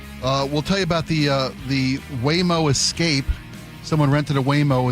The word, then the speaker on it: Waymo: I say that because not only have I been corrected on numerous occasions today, so I say it's pronounced Waymo. Waymo, not Waymo, like I've been saying for the last 7 years.